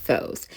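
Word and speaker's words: φῶς: on the word light in greek which is pronounced foes and so i pull out the victoria symbol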